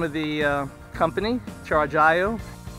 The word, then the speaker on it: Chargiot: And the way you pronounce that, the T is silent, so it's Chargiot, the name of the company, Chargiot.